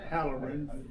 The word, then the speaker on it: Halloran: Um we'll start off with what your name is and how you spell it. My name is Howerin.